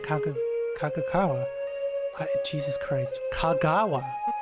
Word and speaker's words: Kagawa: Kagawa. I wanted to add an extra syllable.